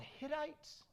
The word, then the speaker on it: Hittites: people the Canaanites the is it called Hittites okay I said it right the armorer right the